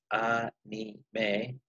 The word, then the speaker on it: anime: The Japanese word anime, pronounced anime, for example, comes from the English animation, or what the kids know as cartoons.